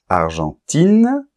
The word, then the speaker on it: Argentine: vois bien la différence argentin avec la nasale Argentine il n'y a plus de nasal parce qu'il y a un E qui détruit la nasale en fait et on entend I et n argentin Argentine allemand on